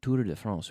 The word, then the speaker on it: Tour de France: We say Tour de France. We don't say Tour de Francia, as you say in Spanish. We try to pronounce it in French when we're speaking English.